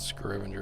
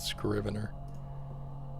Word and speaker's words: Scrier: It's not called Scrivener. It's called Scrier. I've been saying it wrong this whole time.